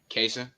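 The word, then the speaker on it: Kaesyn: okay how are you good what's your name KAS how you spell it uh K AE s YN okay what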